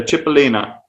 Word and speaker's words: cipollina: oldest friend Aisha, I'm going to use a cipollina. Little tiny. Beautiful. Is that how you pronounce it, Philo? Is that how you pronounce it, cipollina?